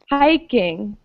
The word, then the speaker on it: hiking: Hiking, another ing word. The hi is stressed.